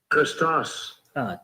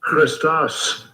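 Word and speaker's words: Χριστός: 원문 발음을 한번 들어보시겠습니다. Christos. 좀 Christos. 다시. Christos. Christos.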